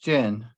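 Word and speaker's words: 箭: So you've got chen and then bamboo on top, but actually together it's pronounced jian, and that means arrow.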